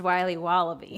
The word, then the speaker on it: Wiley Wallaby: can I have a piece of that Willy Willoughby Wally wibbly Wiley's wallabies wallaby Wally's will be wobba beats pronounced Wiley wallaby well it's very good it's called Wiley wallaby